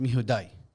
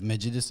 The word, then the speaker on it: Mejudice: It's pronounced Mejudice. Okay. عرفت? Because it's Latin. Okay. Yeah, but I went with Mejudice. It just sounded cooler at the time.